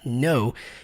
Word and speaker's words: know: Para quem não sabe, esse verbo aí que se escreve no, mas fala no, ele significa o verbo conhecer, saber.